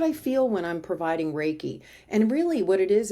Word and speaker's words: Reiki: don't and it's pronounced raiki and it's re e i k i rake I always tell people like you rake leaves right rake yeah wow very cool